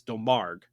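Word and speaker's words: Domergue: films faith um delmar i had to look up how to pronounce her name properly and i actually found it it's del marg faith to marg as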